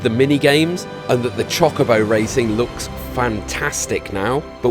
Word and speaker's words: Chocobo: It looks so much fun, and before anyone corrects me down in the comments, I know it's pronounced Chocobo, but I've always called them Chocobos and I really can't get out of the habit.